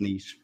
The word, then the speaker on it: Nice: pronounced knees.